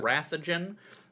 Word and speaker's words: Wrathogen: Rathogen. That is spelled like it sounds. Wrath, Yeah. WRATHOGEN. You can find him on Twitch and on YouTube.